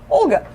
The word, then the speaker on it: Olga: How do you pronounce Olga? Olga.